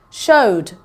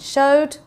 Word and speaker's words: showed: Showed, played, rained. Okay, so we can hear the d, not so much the e. It just sounds like there's a d sound at the end. Showed, played, rained.